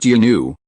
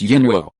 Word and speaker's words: Yinuo: It's not yinu, it's yinuo.